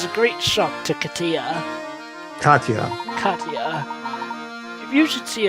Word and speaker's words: Katia: __ ] sake job it's pronounced Katya this is hard okay